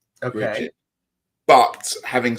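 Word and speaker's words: Brigid: I call her Bridget. Okay. Bridget.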